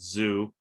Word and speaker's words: Zu: one artist i follow called zoo and that's spelled zu they're a very avant-garde